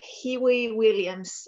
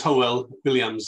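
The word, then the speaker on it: Hywel Williams: very much indeed and don't worry about my name it's been mispronounced all my life my name is howell williams i'm the member of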